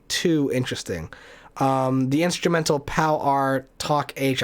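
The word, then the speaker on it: Pow R. Toc H.: interesting um the instrumental pal r talk h i think is how it's pronounced not one of the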